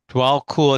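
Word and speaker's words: Djwal Khul: Dwal Cool. It's an unusual spelling. DJWALKHUL, but it's pronounced cool.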